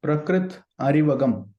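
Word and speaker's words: Prakrith Arivagam: more such that I could repeat it it's prakrit aragam thank you sir prakrit aragam dear friends and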